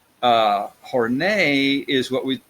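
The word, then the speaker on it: Horney: and neurotic things so horn a horn a it just sounds sophisticated to to say her name that way right but it is how you pronounce it horn a is what we call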